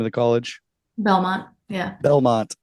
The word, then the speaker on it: Belmont: She's going to college there at the Beaumont, I think's the name of the college. Belmont. Yeah. Belmont is how you say it.